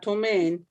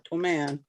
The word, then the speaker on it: Toman: Not Tomaine, Toman.